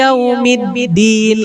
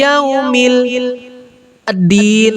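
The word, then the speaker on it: يوم الدين: Contoh, Maliki Yaumiddin, langsung huruf da, bukan Maliki Yaumil Din, nggak kayak gitu, ya kan? Jadi bacanya Maliki Yaumiddin.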